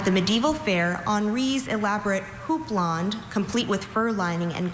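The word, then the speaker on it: houppelande: Your word is hooplond. Could I have all the information, please? Hooplond is the only pronunciation at this entry.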